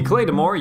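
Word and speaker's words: claidheamh mòr: The claydamore, and that is the pronunciation, not the translation, I know it's the Gaelic spelling of claymore. The claydamore used to be the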